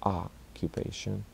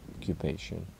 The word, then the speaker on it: occupation: to highlight something here when the O is stressed like conflict in occupation it is pronounced like ah are occupation conflict again a great phrase